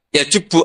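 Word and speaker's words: يجب: Itu bacanya bukan ya jibu tapi apa? Ya jubbu ayaktau.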